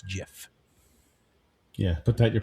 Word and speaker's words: GIF: It is not gif with a hard It's not gif with a hard G. It is gif.